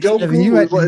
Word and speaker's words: Njoku: And Njoku, is that how you say his name? Yeah, David Njoku.